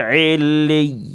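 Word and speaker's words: عليين: Jangan dibaca illiyin. Nggak boleh. Ya, harus ada nabar. Ada tekanan di sini. Illiyin. Kalau illiyin itu idgham bi gunnah nanti. Ini illiyin. Illiyin. Bacanya begitu ya.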